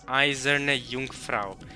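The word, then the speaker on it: Eiserne Jungfrau: Third foreign so the way I heard her pronounce that was izerne Jungfrau so obvious correct pronounce pronunciation for the most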